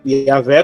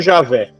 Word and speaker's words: Javé: Tanto Yahvé como Javé. Yahvé, no caso, que seria o Javé, né? Javé seria em português, no caso, né? Porque são duas sílabas, né?